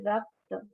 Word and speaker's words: rakta: So next dhatu is rakta. Pronunciation is rakta, which means blood, blood.